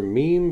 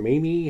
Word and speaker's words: Meme: This is their meme shake with peaches and vanilla beans. Meme or mimi, however you want to pronounce that word.